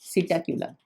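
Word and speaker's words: Psittacula: का क्या हो जाएगा सीटा कला पी साइलेंट है सीटा क्यूला एस आई टी टी ए सी यू एल ए सीटा क्यूला पी यहां पर साइलेंट होगा पीकॉक का क्या हो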